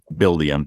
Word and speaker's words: Buildium: what was that buildium buildium yes can you spell that for the listeners please sure yeah it's b-u-i-l-d-i-u-m so like build and then ium you know it's it's